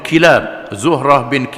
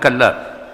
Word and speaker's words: Kilab: bin Abdul Uzza, Zuhrah bin Kilab, bukan Kalab, Zuhrah bin Kilab, dan Taim bin Murrah, di mana Nabi menyertai perjanjian Al-Fudul.